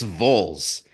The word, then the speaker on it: Vols: Bowls. It's apparently, That's what I, according to Wisconsinites, it's Vols, and I'm sorry, I could not get around it.